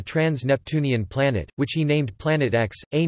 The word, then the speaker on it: Planet X: The X in the name represents an unknown and is pronounced as the letter, as opposed to the Roman numeral for 10.